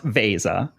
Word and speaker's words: Veza: let's get the word out there right it's pronounced Vasa for those people who are not familiar with what Vasa does what's the elevator pitch 30 let's say